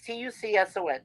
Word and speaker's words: Tucson: Like, Well, yeah, it's very easy, like because the C is silent, right? It's Tucson.